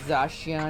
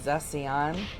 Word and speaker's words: Zacian: I've heard several different pronunciations. I've heard Zacian and Zacian, and Zacian.